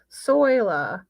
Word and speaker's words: Soila: Okay, so soila, like soil.